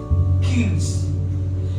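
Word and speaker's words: קיש: En el hebreo se pronuncia Kils, que significa torcido.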